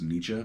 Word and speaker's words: Nietzsche: So this is called Freddie Nichi's Intergalactic Jubilee, and I know it's pronounced Nietzsche, but in the context of this song title, it sounds better to say Nichi.